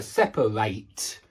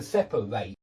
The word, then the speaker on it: separate: It's on the first syllable, but this pronounce this is pronounced as an ate sound at the end. Exactly the same as I ate my breakfast or I have eight chickens. Yeah. Ate to separate. to separate.